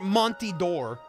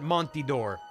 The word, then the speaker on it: Montador: he does pronounce it Monty door I just want to State for the record he does pronounce it montidor I do hope you'll